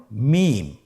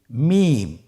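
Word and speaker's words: ميم: মিম। হরফটির নাম কি? মিম। মিম হরফটি উচ্চারণের ক্ষেত্রে অবশ্যই বারিক হবে, পাতলা হবে এবং 3 আলিফ টেনে উচ্চারণ করতে হবে। আমার সাথে আরেকবার চেষ্টা করুন। মিম। আবার বলুন মিম।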